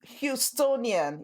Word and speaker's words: Houstonian: Now, Shelley is a native Houstonian. Is that how you pronounce it, Shelley? That's how you pronounce it, Houstonian.